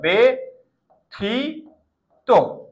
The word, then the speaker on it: ব্যথিত: বল বেতিক্রম ব্যতিক্রম ব্যতিক্রম ব্যথিত জফলার পরে রাস্বীকার আছে তাহলে কি হবে একার হবে বেথি ত ব্যথিত তাহলে বুঝার ট্রাই